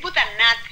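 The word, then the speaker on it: Boudhanath: Es Budhanath, en realidad, porque la H ahí no se pronuncia.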